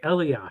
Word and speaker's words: Elias: You've mispronounced his name again. Oh, really? It says hepatitis C. It's Patrick Elias.